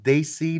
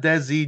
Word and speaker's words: Dacey: the Dacey hit squad is pronounced they see not desi Josh Mathews I got